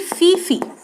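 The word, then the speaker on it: tsetse: तो निंद्रा रोग को फैलाने वाला है स्टूडेंट्स सीसी फ्लाई। ठीक है, इसमें टी साइलेंट है, हिंदी में लिखेंगे तो इसको लिखेंगे सीसी।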